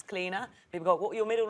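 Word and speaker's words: Clíodhna: It's Cleena.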